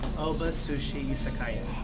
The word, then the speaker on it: Oba Sushi Izakaya: Oba Sushi Izakaya.